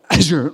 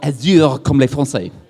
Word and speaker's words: Azure: to say azure and according to the guys in microsoft it's pronounced azure like a sneeze and not azure just in case you're